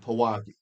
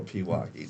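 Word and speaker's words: Pewaukee: There's a co-chair who is res representative Adam Neon from Pawaki or Piwaki depending on how you say it.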